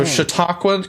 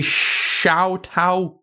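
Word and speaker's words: Chautauqua: this card here cuz you would not think that's how it would be, but yes. So, Shiakwa County, New York. It's in Western New York State. Oh, cuz it looks like it would be Shiaoqua, but it's not But it's just Eden, you're next.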